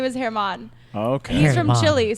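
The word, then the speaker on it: Germán: his name is Herman, but it's spelled like German.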